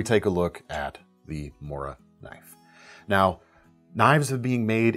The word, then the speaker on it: Morakniv: Whether you call it a Mora knife, or my best attempt at the phonetically more correct Moraknif, a Mora is an absolutely iconic budget knife.